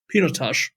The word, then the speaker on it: Pinotage: And at the end, Roelof, he goes, very good, but it's pronounced Pinotage.